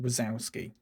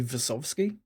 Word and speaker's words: Wazowski: But his name absolutely should not be pronounced Wazowski. It should be Vasovsky.